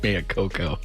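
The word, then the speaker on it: Maiocco: you say that Maya coko is the correct pronunciation of Matt's last name Maya Coco yeah Matt Maya Coco yeah he's going to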